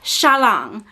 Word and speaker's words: Xialing: to find a pronunciation for Xialing, and the pronunciation of that name is Xialing.